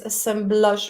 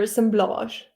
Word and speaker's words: assemblage: Is it assemblage or assemblage? assemblage. Assemblage. Oh, that's boring. I would prefer the French assemblage.